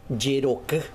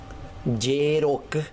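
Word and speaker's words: jeroky: ñangareko estoy cuidando 144 yero yero baile la J se pronuncia como la y como esta letra es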